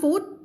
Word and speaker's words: food: to buy food คำนี้ก็เหมือนกันคำง่ายๆแต่ออกเสียงผิดเยอะ you want food no food มีความเสียงยาวแล้วก็ลงท้ายด้วย d เพราะว่าถ้าเธอไม่เสียงยาวมันจะไปตรงกับคำว่า foot ที่แปลว่าเท้าใช่ไหม ถ้าไปถามสามีบอกว่า Terry you want